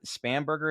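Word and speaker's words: Spanberger: um how do I pronounce her Abigail spam spam Berger am I pronouncing you got it you got it you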